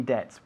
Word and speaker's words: debts: Debts. Y la B de debts no se No se pronuncia pronuncia. tampoco.